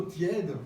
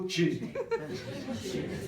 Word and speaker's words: tiède: On ne dit pas le Porto tiède, en Wallonie, on dit le Porto tiède.